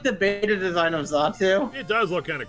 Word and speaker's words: Xatu: Xatu. Usually when an X. Okay. Yeah, usually, in English, usually when an X is used first in a word, usually you have a Z sound.